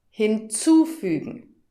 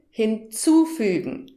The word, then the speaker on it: hinzufügen: Das hat auch etwas mit der Betonung zu tun und damit komme ich zur dritten Kategorie. Hör nochmal. Hinzufügen. Abbestellen. Hörst du die Betonung? Hinzufügen. Abbestellen.